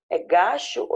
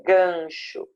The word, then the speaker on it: gancho: escreve assim só que você escreveu assim carga gacho é gancho eu preciso colocar n vai ficar ligando de